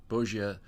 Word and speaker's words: Bogia: Take first right upon seeing the town of Bogia, sign that's pronounced Bo-G, but there really is no town there any longer.